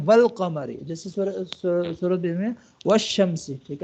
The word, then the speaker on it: والقمر: نا ال، ٹھیک ہے، لیکن اگر اس سے پہلے کوئی اور حرف آ جاتا ہے نا، جیسے واو آ جاتا ہے والقمر، تو اب وہ پھر حمزہ کے جو اوپر جو حمزہ ہے نا وہ گر جائے گی، ٹھیک ہے، تو ڈائریکٹ پھر جو پچھلا حرف ہوگا وہ لام کے ساتھ کیا ہو جائے گا، کنیکٹ ہو جائے گا، پھر ہم پڑھیں گے والقمر، جیسے سورۃ میں والشمس،